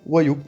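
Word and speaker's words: 와요: Et bien, comme on va le prononcer comme ça, et bien on va juste prononcer ça wayo, tout simplement. On va prononcer le o et le a d'un coup, ça nous donne wayo.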